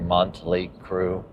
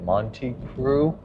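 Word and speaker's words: Mötley Crüe: It's like Montley Crew, but it's not Montley Crew, it's Monty, I think Monty Crew. I don't know, I might be saying it wrong still.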